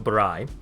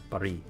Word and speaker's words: Bari: It's supposed to be like R with the river. So like Bari.